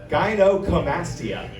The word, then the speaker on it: gynecomastia: Gynecomastia.